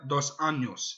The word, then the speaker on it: dos Anjos: Notice, to all Fox people, Fox Sports, NBC, any other news announcers, notice how I pronounced his name? Rafael Dos Anjos.